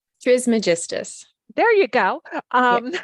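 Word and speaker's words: Trismegistus: Trismagist.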